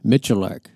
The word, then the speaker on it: Miculek: Miculek.